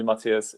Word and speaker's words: Matyáš: name but like you know please call me matthias it's just way easier for everyone uh i'm